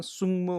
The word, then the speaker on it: सुङमो: यो 27 को उच्चारण शुद्ध उच्चारण सुङमो हुन्छ नि है, गले म भेटेपछि के हुन्छ ग ङ।